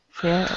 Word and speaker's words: fir: Fir. Yeah, it's a fir. Oh, no, it's pronounced the same way as fur on a bear or an animal. Yeah.